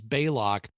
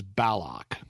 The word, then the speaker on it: Balok: this word so eBay Locke has clearly said his name is Baylock McCoy shows up and says Balok well it's all with kind of the southern you know people in the South can pronounce long A's presumably the voiceover with